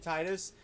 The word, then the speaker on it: Tidus: Also, Tidus, I pronounce it Tidus. I've seen some people pronounce it Tidus. I will be pronouncing it as Tidus.